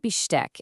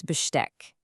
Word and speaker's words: Besteck: When st starts a syllable in German, it sounds like st in English. So it's not Besteck, it's Besteck. Go on, have a go. Das Besteck.